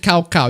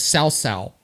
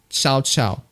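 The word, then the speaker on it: Cao Cao: You see, I got used to with the pronunciation of Cow Cow on Dynasty Warriors 5. And people keep calling it the correct pronunciation is Sao Sao. Xiao Xiao. Xiao Xiao. Or Cow Cow. But people in Dynasty Warriors 5, they call it Cow Cow.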